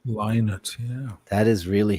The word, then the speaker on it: Lynott: It's like people who say Phil Lynott. It's really Phil Lynott. Lynott, yeah.